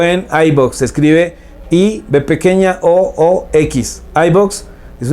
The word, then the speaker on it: iVoox: vaya a Spotify y búsquenos ahí, o en iVoox. Se escribe IBOOX.